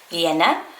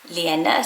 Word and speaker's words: Lena: my name list but Henrik with is more used in scandinav and he sort of says Lenna Lenna sort of adds an extra bounce into the e um and then I